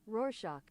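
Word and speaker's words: Rorschach: How to pronounce or roshack. Roarshack. Say it slow for me. Roarshock.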